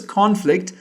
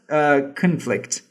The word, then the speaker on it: conflict: Of course, you see, I pronounced it as conflict. It should be pronounced as conflict.